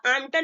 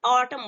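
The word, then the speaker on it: autumn: जैसे एग्जांपल देते हैं ए यू टी यू एम एन। ठीक है, तो इसको आमटन नहीं बोलेंगे, हम क्या बोलेंगे, ऑटम बोलेंगे। ठीक है, ऑटम।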